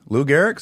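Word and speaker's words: Lou Gehrig: any other thing literally give it to me Lou Garrick I'll take it anything is that how you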